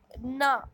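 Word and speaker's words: gnaw: ना, यहाँ पे जी साइलेंट है.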